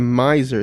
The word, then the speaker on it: Miser: Oh, okay, the Miser is how you pronounce it.